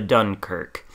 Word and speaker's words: Dunkerque: mispronunciation of french words this one i can pronounce it's the dunkirk and this is the